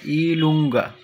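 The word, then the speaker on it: i lunga: প্রথমেই দেখুন, এটা আমরা ইংরেজিতে বলি জে, কিন্তু ইতালিয়ান ভাষায় এটাকে উচ্চারণ হবে ইলুঙ্গা, ইলুঙ্গা।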